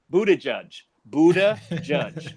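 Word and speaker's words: Buttigieg: And I actually figured out how to say his name, Buddha Judge, okay? I think that's how I say it.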